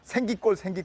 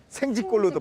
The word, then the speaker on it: 생기골: 그러니까 제주도 할아버지 할머니들은 향을 발음하지 못해가지고 그걸 생으로 발음했던 거예요. 그래서 생기골 이러고요. 생기의 두 번째 기도 지라고 소리가 바뀌기도 해요. 그러면 또 뭐가까지 바뀌냐면 생지골로도 바뀌는 거죠.